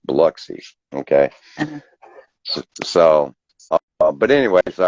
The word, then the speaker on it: Biloxi: correct me on my pronunciation because it's not pronounced Biloxi, it's pronounced Biloxi.